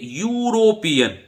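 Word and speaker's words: European: करना है तो देखिए इसका उच्चारण देखिए यूरोपियन यूरोपियन हालांकि यह ई से शुरू हो रहा है आप कहेंगे सर स्वर से शुरू हो रहा है स्वर से शुरू हो रहा है पर अंग्रेजी में भाई हो सकता है स्वर से शुरू हो लेकिन उच्चारण तो व्यंजन जैसा हो रहा है इसलिए ए आएगा क्या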